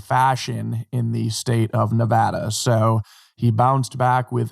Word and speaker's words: Nevada: in Las Vegas Nevada I used to pronounce Nevada Nevada before I was uh became a little more cultured when I was in University my buddy was from Nevada and he told me that pronunciation was in fact Nevada not Nevada but interestingly enough while